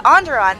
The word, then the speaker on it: Onderon: How would I pronounce that? Yeah, Onderon.